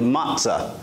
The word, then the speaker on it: matzah: ordered it and it it's not matzo's but it's pronounced usually matzah but interesting some interesting